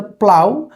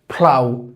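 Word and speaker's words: plough: তো লাঙ্গলের ইংলিশ আমাদের দেশের প্রোনাউন্সিয়েশন করা হয়েছে প্লাও। কিন্তু এটার ভুল প্রনান্সিয়েশন। এটার প্রনান্সিয়েশন আসবে হচ্ছে ফ্লাও। কি আসবে? ফ্লাও।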